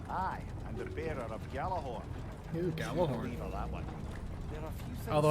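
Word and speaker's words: Gjallarhorn: am the bearer of gallaghorn here although I believe the pronunciation is supposed to be yellow horn but you know who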